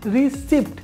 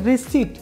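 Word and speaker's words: receipt: রিসিট আমরা এটাকে বলি রিসিপ্ট মানে পিয়ের উচ্চারণ করতে চেষ্টা করি কিন্তু পিয়ের উচ্চারণ হবে না পিয়ের উচ্চারণ এলিমিনেট হবে সেক্ষেত্রে এটা হবে রিসিট অর্থাৎ টিয়ের পূর্বে যদি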